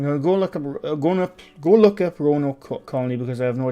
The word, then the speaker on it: Roanoke: Roanoke. Okay. That's how it's pronounced.